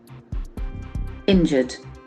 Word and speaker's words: injured: r e into it injured injured hurt or physically harmed injured injured injured the pronunciation is very tricky injured the letter U doesn't have any scope here injured injured for the